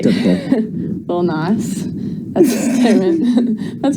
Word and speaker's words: Lil Nas: Lil Nas.